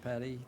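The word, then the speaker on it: petit: Rivera sir your case number is 2009 19 mm for 2:05 you are charged with I pronounce it Pettit some people pronounce it petty theft prior theft convictions you're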